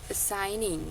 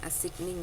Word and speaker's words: assigning: simple operations such as itu bacanya such as assigning bukan assiging ya assig employees to